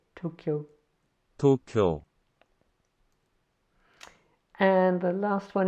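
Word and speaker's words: 도쿄: Oh, yeah, I need to say the D can sometimes sound like a T. So that's a T in this case. T. O. Here's a K. And a Yo. So Tokyo. Tokyo.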